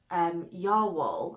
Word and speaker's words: Jawoll: And this is Lang Yarns Jawoll, I think you would pronounce it.